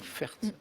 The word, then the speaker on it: Fert: patricia albert fert tu albert fert avec un thé à la fin qui se prononce quel locution latine bon